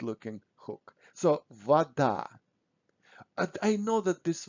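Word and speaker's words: вода: russian um words so when o is not stressed we pronounce it almost always as a so we say vada but when we write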